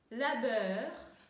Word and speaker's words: labeur: Labeur. То же самое, сочетание EU читаем как э.